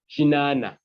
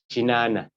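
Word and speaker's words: kinaana: 80 is written differently it's pronounced as chinana meaning 80. you take note this is k i n double A N A chinana then 90 which comes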